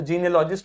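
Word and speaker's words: genealogist: तो जीनियोलॉजिस्ट हो गया वंशावली विशेषज्ञ, और जीनियोलॉजी हो गया आपका स्टडी ऑफ एंसेस्ट्रल ओरिजिन। इसका प्रोनाउंसिएशन देखिए, जीन ई अ ल लॉजिस्ट, तो जीनियोलॉजिस्ट।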